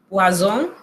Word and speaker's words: poison: Por ejemplo, lo tenemos en pantalla, poison. Aquí se pronuncia una Z bien sonora, significa veneno. Pero si usted dice poisson, pescado. Poisson, pescado. Poison, veneno.